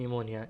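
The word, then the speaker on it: pneumonia: अच्छे so next decision निमोनिया को निमोनिया छपी साइलेंट है निमोनिया हम इसको सैनिकों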